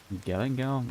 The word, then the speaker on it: galangal: 15 shrimps, 3 stalks of lemongrass, lime leaves, some sized roots of galangal? I'm not sure how it's pronounced.